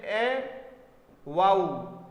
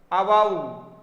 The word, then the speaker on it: avow: और आवू का मतलब क्या हो गया, ठीक है, वाऊ बोलेंगे आऊ, AVOW, इसका प्रोनाउंसिएशन ए वाऊ, अवाऊ ऐसे आएगा वाऊ, ये ए तो बहुत